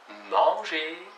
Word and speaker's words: manger: язык, чтобы не было manger, chanter, penser. Переводится chanter, manger, penser. Еще раз разница. Manger, penser, chanter. Там нет никаких «н».